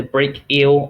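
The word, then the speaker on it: brachial: to the tissues the break eel artery so that's how you pronounce it so it's almost like break and then eel supplies blood to the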